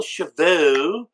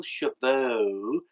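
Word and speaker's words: Wendell Chavous: Justin Haley fourth Wendel Shibu is in fifth I always say his name wrong so I wanted to make it a point to say Wendel cheveux soon as she found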